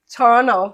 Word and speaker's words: Toronto: you welcome to Toronto torno Toronto not Toronto no the second T is silent oh okay it's Toronto